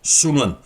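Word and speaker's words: 孫文: 여기서 우리가 만나는 인물이 바로 순원, 우리 발음으로는 손문입니다.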